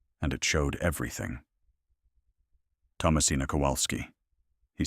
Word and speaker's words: Kowalski: Every syllable exact. The W like a V, the second vowel open, the final syllable clear. Not Kowski.